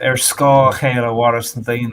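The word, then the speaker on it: ar scáth: has shaped my life air scar is how you say it in Irish and one translation of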